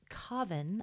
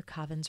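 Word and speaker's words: Kaavan: This was around the case of an Asian elephant named Kavan, I believe is how you pronounce it. It's K-A-A-V-A-N.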